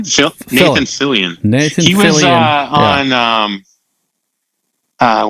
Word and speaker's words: Fillion: She's managing Nathan Fallon. Extremely. Or how do you say his last name? Nathan Fillion.